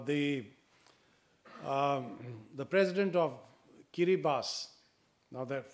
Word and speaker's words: Kiribati: of kiribas now that for some reason it's spelled Kiribati k i r i b a TI and that's not French otherwise I can understand that the spelling would be very different from the pronunciation but uh the president of kiribas and I in I